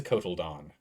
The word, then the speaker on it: cotyledon: What is a cotyledon? Cotyledon. It's pronounced cotyledon.